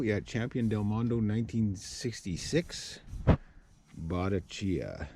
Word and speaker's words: Bottecchia: champion del mondo 1966 botticia i think that's how it's pronounced b o t t e c c h i a chia it's italian and uh i got